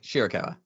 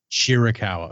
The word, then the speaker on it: Shirakawa: Tony storm and Mina is it shirakawa I always say it wrong shawa shirakawa okay I always want